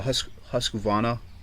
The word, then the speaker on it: Husqvarna: This one's what's called a Husqvarna. I think that's how you say it. I think the R is silent, but Husqvarna is a pretty decent brand.